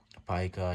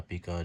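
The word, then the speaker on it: pica: एंड पाइका या पीका, जो आपने प्रोनाउंस करना है इसको, ठीक है, ये होता है persistent craving and compulsive eating of non food substances.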